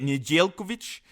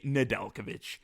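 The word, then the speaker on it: Nedeljković: you can say it nigelkovich or you could say nadalkovic so are they gonna write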